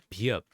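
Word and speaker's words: 비읍: Next, we got biup, which this one is a B sound. Many Koreans get this confused. They say, no, it's like a V, but it's not a V, it's a B.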